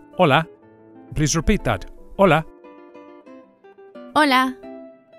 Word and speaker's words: hola: please repeat that hola hola you can hear that the initial H is silent hola the next word is